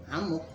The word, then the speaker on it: amuk: Jadi ya kalau kita baca menggunakan ejakan bahasa Indonesia, yaitu kita katakan amuk. Dua-duanya ya bisa kita baca dengan bacaan amuk kalau tidak ngikutin pronunciation Inggris.